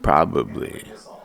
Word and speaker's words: probably: Which is cutting out a lot of letters, a lot of syllables when you do it that way.